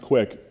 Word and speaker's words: Qik: this one called uh it's spelled qik but it's pronounced quick skype bought these guys